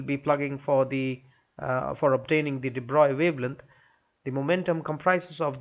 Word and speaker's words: de Broglie: Now the first question, first bit A, has asked us to calculate the average de Broglie wavelength. You can pronounce it as de Broglie, but it's actually de Broglie.